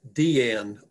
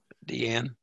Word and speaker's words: Diane: uh richard yes technically technically that is deanne arvis she pronounced her name deanne diane okay thank you purists